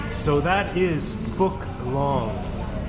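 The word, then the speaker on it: Phúc Long: The pH is actually an F sound in Vietnam. So that is Phu Long. It's not long, but it is Phu Long.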